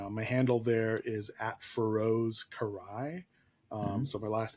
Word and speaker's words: Karai: on Instagram you my handle there is fos carai um so my last name is spelled k a r AI um and on